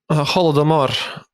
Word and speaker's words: Holodomor: How do you pronounce it? Holodomor.